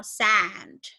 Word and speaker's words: sand: And then we have this one is sand. Nah, ini nggak bisa selesai sampai sini, tapi D-nya juga harus dibaca.